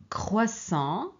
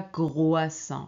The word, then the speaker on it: croissant: alors allez-y j'adore les croissants vous voyez ici ce n'est pas grroissant c'est croissant croissant j'adore les croissants le